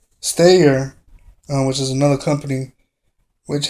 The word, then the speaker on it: Steyr: On the other hand, Steyr, I can't really pronounce their name. It's Steyr, Steyr, which is another company,